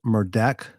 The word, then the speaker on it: Murdaugh: you something real fast it's pronounced murdeck because if you'll watch the beginning of this video that's how he pronounced his own name but I thank you